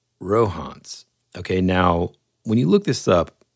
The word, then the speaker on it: Rohonc: So whenever I found out about this book, I thought it was the Rohonc Codex, right? Mm-hmm. But it's actually Rohonc, and that's how you pronounce it.